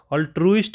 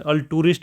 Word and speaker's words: altruist: अल्ट्यूरिस्ट नहीं है, अल्ट्रुइस्ट है। अल्ट्रुइस्ट इसमें ये है लॉजिक। इसमें ALTRUIST है, TU नहीं है। मैक्सिमम बच्चे इसमें अल्टूरिस्ट बोलते हैं इसको। अल्टूरिस्ट नहीं है, अल्ट्रुइस्ट है।